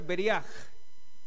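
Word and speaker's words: בריח: Y se pronuncia beriaj.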